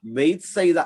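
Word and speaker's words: ബൈത്ത്സൈദ: വീട് എന്നാണ് ന്യായത്തിന്റെ ബൈത്സൈദ അപ്പൊ ബൈത്സൈദ ബൈത്ത് സൈദ എന്നാണ് ഉച്ചരിക്കണം നമ്മൾ ബൈത്ത് എന്ന് പറയുന്ന പലതും ബൈത്ത് ആണ് ശരി ബൈത്ത് ബൈത്ത് ലക്കീം ആണ് ശരി പറയുമോ ശരിയ ഉച്ചാരണം അപ്പൊ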